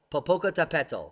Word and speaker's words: Popocatépetl: in Mexico's Popocatepetl Popocatepetl Popocatepetl that's how you say it but poke like a pencil there it is let's